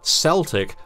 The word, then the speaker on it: Celtic: scholars of their history, with the soft sea, Celtic, a later approximation adopted, most obviously, by sports teams in Glasgow and Boston. While we use the original, the soft sea pronunciation is not wrong in the way that Scottish Gaelic names are often mistakenly anglicised. It's just an alternative.